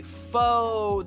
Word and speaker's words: faux: Okay, faux. That's a French word.